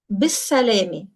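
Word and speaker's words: bis-salāmeh: off with their car, bis-salami, with safety. Bis-salami. So again, be preposition and is-salami, and together it's going to be pronounced as bis-salami.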